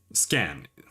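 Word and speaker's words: Skaen: leave it to scan scan that's how we pronounce it like stand just scan skin scan I'm gonna keep saying skein ah leave it to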